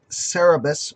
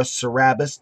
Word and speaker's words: Cerabis: We're going to be taking a look today at the CeraVape Cerabis, or Cerabis, depending upon how you want to pronounce it, tank.